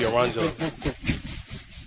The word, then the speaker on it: Orangelo: It's gonna be Orangelo.